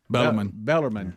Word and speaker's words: Bellarmine: right so um and some of the people i've heard pronounce it they'll try to drop the r too you can't be dropping letters like that yeah bellarmine bellarmine named after roberto